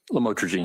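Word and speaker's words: lamotrigine: drugs about the u the llwise known as lamatroine. Did I pronounce that right? Lamotrograene.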